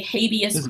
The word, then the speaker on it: habeas: it wrong well yet I call it habeas humor because at least in America we say habeas where ism merkel speak English but it's Latin but apparently Benedict from